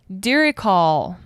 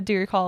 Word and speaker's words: Diricawl: So this week we'll take a closer look at the Diricall.